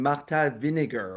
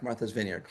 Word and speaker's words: Martha's Vineyard: a mirror and and I I kept saying Marta Vinegar or something. I mean, it was it didn't sound at all like Martha's Vineyard.